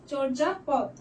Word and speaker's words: চর্যাপদ: এখানে হচ্ছে চ ওকার হয়ে যাবে। যারা প্র্যাকটিস করছো তারা ভালোই জানো। আর রেফের জন্য এখানে হচ্ছে র হবে চর। তারপরে বর্গীচয় আকার। কারণ বানানে যদি অন্তরচ থাকে তাইলে এটা বর্গীয় জ হয়ে যাবে। চরজা পথ পথ হচ্ছে সেমই থাকবে।